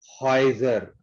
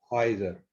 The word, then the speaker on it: Häuser: Au is ow, but umlaut too again gives oi sound. Häuser. Häuser.